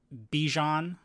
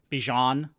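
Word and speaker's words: Bijan: um Fenix's running and Bjon Bjon if I pronounced that correctly. Bjan, sorry. Bjan.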